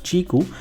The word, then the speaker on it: Qiku: company is called Qi kuu but it is pronounced as chiku and this is their new smartphone which they